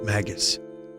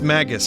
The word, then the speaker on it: Magus: In my head, it was always Magus since I was a kid. Rhymes with maggots. It's Magus.